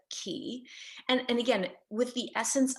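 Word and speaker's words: QI: Yes, it could be pronounced chi, but key.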